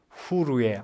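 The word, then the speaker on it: חור: 벤허는 영어인데 본래 히브리 말로는 후르의 아들 그런 뜻입니다. 벤이 히브리 말로 아들이라는 뜻이고 허는 히브리 말로는 후르 그렇게 발음을 합니다.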